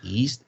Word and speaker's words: yeast: Не yeast, а yeast. Yeast. All right, теперь одним словом. Yeast. Yeast. О, супер было. All right. Получается, я это к тому, что east будет east, когда и пишется. Like east. East Coast, east. А тут yeast.